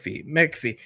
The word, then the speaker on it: McAfee: It's McAfee. But the C comes before the A. Anyways, we have an official tweet from John McAfee.